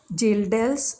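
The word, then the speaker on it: Kjeldahl's: So nitrogen of coal sample is estimated by Gildel's method. Here K is silent. We call it Gildel's method.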